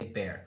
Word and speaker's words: bare: That's pronounced the same way as the animal word bear.